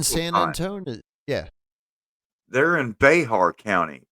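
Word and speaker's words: Bexar: Anton yeah they're in Bear County spelled with an X pronounced with an H Bear County um and um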